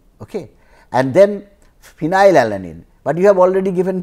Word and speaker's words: phenylalanine: And then phenylalanine, but you have already given P to proline. So phenylalanine, the as if the pronunciation is starts with phenyl. Phenyl means as if you are starting with F.